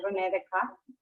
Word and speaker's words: René Descartes: de un profesor que la correcta pronunciación del nombre de este filósofo es René Descartes, porque en el francés, cuando una palabra termina con E o S, pues estas no se pronuncian.